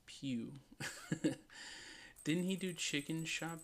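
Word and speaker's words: Pugh: okay like like modeling it's pronounced Pew didn't he do chicken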